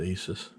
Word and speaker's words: ASUS: here GPU tweak - from Asus I believe you pronounce it ASIS this is their program